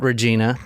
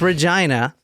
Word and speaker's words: Regina: next stop was Regina and that is how you say it not Regina it's Regina I saw a video